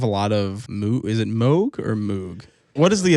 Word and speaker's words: Moog: Moog. Yes. And the reason I say it that way is that's the general pronunciation for like North American dialects. Like Moog is just what it